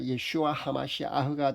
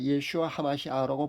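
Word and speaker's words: ישוע המשיח: 현대 히브리어로 예수님은 우리가 잘 아는 대로 예슈아입니다. 여기에 그리스도는요 하마시 아흐고요. 그래서 예수 그리스도는 예슈아 하마시 아흐입니다. 발음하기가 아마 좀 어려울 겁니다. 예슈아 하마시 아흐가 됩니다.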